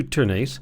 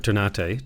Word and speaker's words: Ternate: You're going to move into Ternate, or Ternate, depending on how you choose to pronounce it.